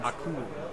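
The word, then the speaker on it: Akoum: Akum. Rhymes with Doom.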